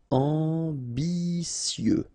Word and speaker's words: ambitieux: Ambitieux, final X not pronounced, and then remember that you get this T, I, and then vowel, so si. Ambitieux, ambitieux.